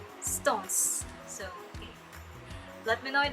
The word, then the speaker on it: SixTONES: japanese boy band named six stones or stones because i have been reading comments about that that the correct pronunciation of their group name is stones so let me know